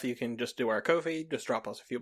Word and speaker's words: Ko-fi: Ko-fi, it is pronounced Ko-fi, like coffee.